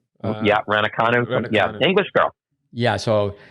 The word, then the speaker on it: Raducanu: Yeah, the shopping and bopping with Emma, how do you pronounce her name? Emma Raducanu? Raducanu.